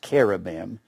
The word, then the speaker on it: cherubim: It's pronounced cherubim. Probably not the full pronunciation because they had so many guttural sounds. The Jews did. Cherubim. Probably something along that line.